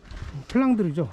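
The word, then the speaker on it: Flandre: 하고 가겠습니다 그걸 이제 플랜더스가 이제 영국식 발음이고 불어 바르면 플랑드르죠 지금의 벨기에 지방인데 여기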